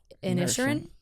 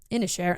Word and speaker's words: Inisherin: I watched Banshees of Inisherin. I don't know. Inisherin. I'm trying to say it how they say it in the movie. Inisherin.